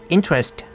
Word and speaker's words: interest: interest 할 때는 스트레스가 앞에 있기 때문에 interest 하고 있습니다.